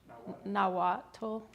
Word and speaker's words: Nahuatl: talk about was and forgive me if I mispronounce it and you can correct me, is the Nahuatl language. Nahuatl?